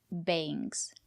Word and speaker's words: bangs: Use the long A. Bangs.